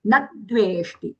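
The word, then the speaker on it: न द्वेष्टि: Nadveshti. And na, take half da as aghata. We have to take it because these two words are within the same charana.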